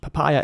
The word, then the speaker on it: papaya: And papaya is spelled P-A-P-A-Y-A, and it's pronounced papaya.